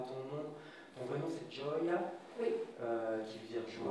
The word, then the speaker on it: Gioia: je commençais par der en fait je m'appelle Joya donc je me suis dit on va simplifier